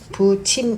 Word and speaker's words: 붙임: Please note the pronunciation, it is pronounced as ' '.